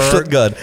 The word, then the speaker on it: Stuttgart: Stuttgart. That's how they pronounce it.